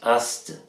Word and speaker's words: Ast: de magie blanche c'était ça s'écrit A à Z a set et ça se prononce aste AST alors il utilise justement